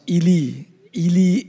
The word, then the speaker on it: Eli: know the story of eli and his sons i actually prefer to pronounce as a hebrew pronoun ely and his sons but you grow up with pronunciation like that the western pronunciation so i think i